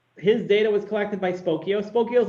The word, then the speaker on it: Spokeo: when there's a company called spokeo rhymes with tokyo that's how they used to sell it and spokeo this is this is what their website looked like circa 2006.